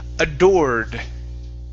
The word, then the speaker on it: adored: Let's go to the word adored. Adored. There you go. That's an or sound.